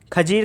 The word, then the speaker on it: खिज्र: खिज्र के बाद खिज्र खां, खिज्र था, ये खरीज नहीं है, खिज्र था।